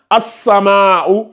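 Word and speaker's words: السماء: a pas de soukoun, c'est une lettre solaire. Donc, on passe directement à la shadda. On lit as-sama.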